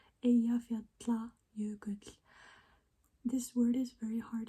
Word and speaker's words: Eyjafjallajökull: It's Eyjafjallajökull. Eyjafjallajökull. This word is very hard to pronounce, and when the eruption happened in 2010,